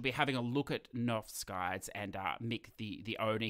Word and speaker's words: Knoef: Well, it's pronounced Knoef.